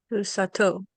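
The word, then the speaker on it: סוסתו: But if you add a pronominal suffix to the end, guess what? Tav will come back. How do you say his female horse? Susato.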